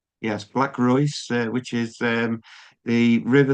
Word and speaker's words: Reuss: but you're everything uh for Black is it pronounced Royce? Yes. Yes. Black Royce, which is um the river that runs uh by your your town.